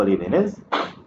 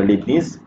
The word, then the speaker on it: Leibniz: واحد اخر اللي هو ليبينيز ولا ليبنيز باش كنطق سميتو مزيان.